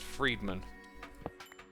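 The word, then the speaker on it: Fridman: lex lex and then it's spelt friedman but it's said friedman and that's my uh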